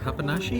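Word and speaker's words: papanași: Papanashi?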